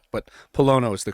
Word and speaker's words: Pollono: appreciate it most people from new england is pilano but polono is the correct pronunciation now luke said dude you gotta watch